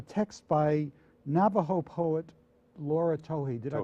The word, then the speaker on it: Tohe: Navajo oratoro a text by Navajo poet Laura Towhee did I pronounce it that's correct yes and the images